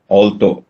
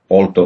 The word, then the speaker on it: alto: ഓൾട്ടോ, ALTO, ഓൾട്ടോ എന്നാണ് ഉച്ചാരണം.